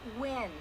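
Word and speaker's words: Nguyen: Maya Wynn. Just doesn't even ask how it's spelled.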